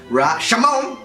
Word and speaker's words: Rashomon: Join us next week on Miten on Movies when we'll be discussing the Akira Kurosawa classic Rashomon, or in its original pronunciation, Rashomon!